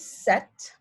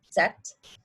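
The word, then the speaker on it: sept: pronounced cease seven is set you don't pronounce the p there so basically pretend it's sct set eight is wheat the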